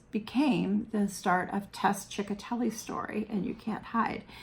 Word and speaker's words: Ciccotelli: whose last name was chicatelli and i love the name and everybody called her miss chick because chicatelli isn't written the way a lot of people would be able to pronounce it so people just called